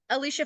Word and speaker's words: Alycia: course you can find Alicia on Instagram um Alicia fit so it's Alicia it's just my name